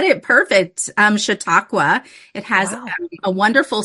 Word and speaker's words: Chautauqua: So you went to Chautauqua County. Did I pronounce?